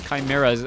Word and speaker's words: Chimera: to be at it some people tell me that it's pronounced Shima it's a CH no I I always thought it was Chimera I guess it depends British English versus American English um as we now